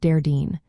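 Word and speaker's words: Déardaoin: Then we have Thursday, known as Day Ardeen, pronounced Dardeen.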